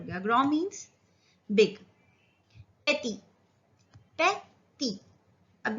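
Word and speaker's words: beaux: जैसे कि बॉ, तो बॉ में हमने x लगा दिया तो इसका प्लूरल हो गया बॉ। प्रोनाउंसिएशन सेम है।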